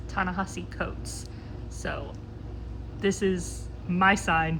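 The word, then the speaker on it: Ta-Nehisi Coates: Between the World and Me by Ta Ni Coats, I I think I butchered that, so I apologize. I'll put in a actual pronunciation, correct pronunciation. Hey guys, I'm editing and I 100% mispronounce that. It's Tanahasi Coats.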